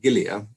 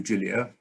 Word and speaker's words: Gilia: And it's polite when botanizing somebody's name to pronounce it in the way that he would pronounce it.